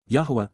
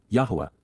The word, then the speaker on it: Yahowah: Yahwa. Yahwa. The proper pronunciation of the name of Eloha.